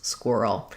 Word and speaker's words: squirrel: Let's break down how to pronounce squirrel. First of all, we have first syllable stress and the letters qu say the kw sound. So then my ir says "er" in this word.